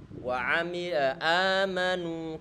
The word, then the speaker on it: آمنوا: Amanu, kita monyongkan bibir kita, jangan ragu-ragu.